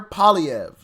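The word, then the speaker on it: Poilievre: loved it love it Pierre PV that's apparently how he pronounces his name uh because he he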